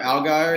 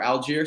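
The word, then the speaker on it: Allgeier: stacked the Box Tyler algar is actually or Alger so I want to pronounce that right was um we led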